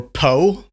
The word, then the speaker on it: pho: That's why I'm introducing you to pho. Yeah, some people pronounce it pho or po.